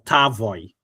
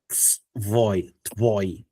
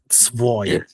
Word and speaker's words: твой: I wasn't твой or tavoy. It's твой. So that ends with voy. Tvoi.